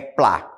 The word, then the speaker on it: Platt: Ou até mesmo em alguns noticiários vocês vão ouvir falar Platt, mas a sonoridade é Platt. O T a gente não pronuncia.